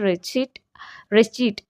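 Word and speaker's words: receipt: அதே மாதிரி ரெசிப்ட் அப்படிங்கிறாங்க. இட்ஸ் நாட் அ ரெசிப்ட். RECIPT ரெசிப்ட் கிடையாது. ஆக்சுவலி ஸ்பெல்லிங் அதான் இருந்தாலும் அதோட ப்ரொனன்சியேஷன் வந்து ரெஸ்சீட் RI-SHEET ரெஸ்சீட் அப்படிங்கிறத நம்ம ப்ரொனவுன்ஸ் பண்ணணும்.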